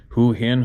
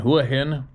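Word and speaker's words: Hua Hin: up to the main strip this place called huin huahin h u a h i n and uh a lot of different people pronounce it differently but anyway it's kind of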